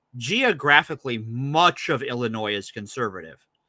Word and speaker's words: Illinois: the same thing in Illinois um so first of all they don't even pronounce the S so there's already a